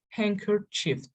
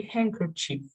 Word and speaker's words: handkerchief: don't pronounce the letters letters may be left unpronounced because they occur in difficult sound combinations for example handkerchief we didn't pronounce the